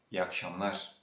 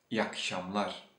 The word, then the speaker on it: iyi akşamlar: Just because iyi ends with a vowel and akşamlar begins with a vowel, you will hear from the Turkish natives like this. İyi akşamlar, iyi akşamlar, instead of iyi akşamlar.